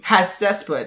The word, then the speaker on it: Hatshepsut: Hatshepsut? I don't know how to say that. Hatshepsut, yeah, ruled Egypt for more than 20 prosperous years.